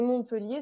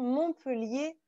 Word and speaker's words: Montpellier: précisément alors petite précision montpellier on ne prononce pas le thé attention non eux liés non